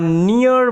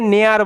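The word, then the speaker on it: near: হি was going to আর নিয়ার বাই, এখানে EAR ইয়ার এরকমভাবে উচ্চারণ হবে, ঠিক আছে? অনেকে নেয়ার বলে, নেয়ার নয় কিন্তু নিয়ার, হ্যাঁ, নিয়ার by village for some work, মানে এটা ভালো মতো বোঝার চেষ্টা করো।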